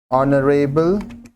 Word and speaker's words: honorable: ऑनरेबल मैन, यहाँ पे H silent है, ओ जो कि एक वाइल साउंड है. ऑनरेबल starts with a silent H and a vowel sound, so article an is used.